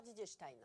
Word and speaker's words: Didier Stein: Et on dit d'ailleurs Didier Stein. Stein, ouais.